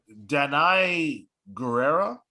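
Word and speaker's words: Danai Gurira: see yeah yeah we shall see uh so danai guerrero believe that's how you say her name she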